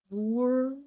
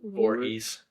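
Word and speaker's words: Voorhees: Come face to face with the iconic horror villain Jason Vor. Vorhees. Vorhees. Um step into the terrifying world of this silent killer.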